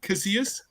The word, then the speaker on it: Casillas: The 2L makes a Y, so it's Casillas.